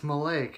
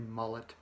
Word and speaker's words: Mullet: friend Jack Malay it's maleic anyways his name is spelled mu LLL ET but he's French Canadian so as they say male his perfect opportunity for your last name to be mullet mullet is a great